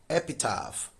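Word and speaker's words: epitaph: This underlined letter PH contains the sound F. Epitap.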